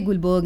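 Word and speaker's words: Guldberg: इट was given by गुलबर्ग एंड was. Spelling तो गुल्डबर्ग एंड वाज है, बट बोलते गुलबर्ग एंड वाज है।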